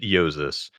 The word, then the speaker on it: Jousis: And I just put in Jousis and pronounced it Jousis.